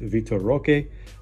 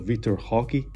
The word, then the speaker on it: Vitor Roque: And after that, tier 1, this guy is pretty much in it, along with Vitor Roque, or I guess how they say it in Portuguese or like in Brazil, Vitor Roque.